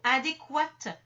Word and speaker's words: adéquat: ensuite on a donc les mots Q u dont le U se prononce ça c'est l'origine latine